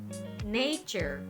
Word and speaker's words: nature: padahal jauh sekali ya kata ini diucapkan Niger nature nature dengan tekanan pada suku kata pertama tetapi yang ini diucapkan